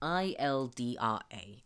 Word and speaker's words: Ildra: one moment let me copy yeah and it is spelled i-l-d-r-a ildra okay gotcha yeah I believe she went by the name of eldra so we're looking for a body we're precisely